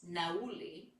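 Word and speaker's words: nauli: Today we'll add a practice that um I haven't taught in recent memory called nai. That's spelled n a u l i.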